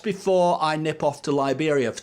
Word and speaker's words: Liberia: In fact, I have written a little chorus called "Going Back to Liberia," or Liberia, as I actually sing, and that's actually out there how they say it as well, Liberia.